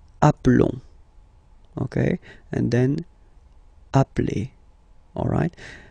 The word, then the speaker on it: appelons: Okay, nous appelons. And then little link would be perfect, so let's pronounce the whole thing again. Nous appelons. Nous appelons. Okay, final S doesn't exist.